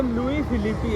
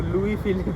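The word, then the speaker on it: Louis Philippe: वो लुईस फिलिपी है। वो लुईस नहीं है। साले वो एस है ना उसमें वो है। साइलेंट वर्ड है भाई एस वो लुई फिलिप ही है तुम्हारे जैसे गवार थोड़े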